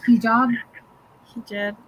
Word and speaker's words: hijab: it's like it yeah like with the a or with e it's spelled h-i-j-a-b so kind of like an e like hijab hijab yeah okay jab good job like a jab like oh yeah and